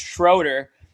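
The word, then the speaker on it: Schröder: It said it's pronounced Schroeder, and if you pronounce it Schroeder, I that's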